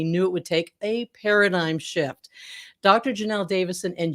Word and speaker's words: Paradeye: format that'll make your staff excited to demonstrate paradigm which is pronounced as i just mentioned but spelled p